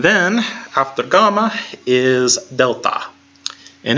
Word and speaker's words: Delta: half the gamma is Delta and it sounds like the D in dog and it's very consistent